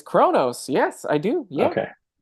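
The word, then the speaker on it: Qo'noS: me it's pronounced Kronos. It's, yeah, it's Kronos.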